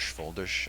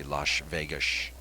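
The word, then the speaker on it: Földes: honor of vilmos fish I should actually say l Vish lash Vish huh I was I was trying to say it like you I can't say his name right Vos fish it's very tough getting that ESS sound Florian's boss uh made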